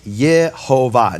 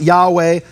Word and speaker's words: Yehovah: Unequivocal that this rabbi is saying the name is Yehovah, not Yahweh, not Yahuwah, though you don't find that in Jewish sources, not at least that I found, but that it's Yehovah, Shva, Cholam, Kamatz.